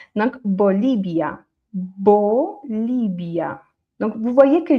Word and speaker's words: Bolivia: Du coup, le deuxième il est moins fort mais ça se prononce pareil. Bolibia Bia Bia Bolibia. OK. Donc vous voyez, je j'agrondis un petit peu. Donc Bolibia Bolibia.